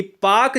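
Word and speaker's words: Palk: पाकिस्तान वाला नहीं है यह पाक जलसंधि पहला के को हम पाक कहते हैं ठीक है ना इसमें ल साइलेंट होता है मैक मोहन रेखा भारत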